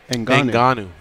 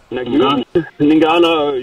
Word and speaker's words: Ngannou: Ngannou. Ngannou, yeah, that guy looks like a beast.